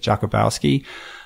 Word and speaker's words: Jakubowski: For this video, we had a photographer with us up in Tahoe, Thomas Jakubowski. That's how you say it, Jakubowski.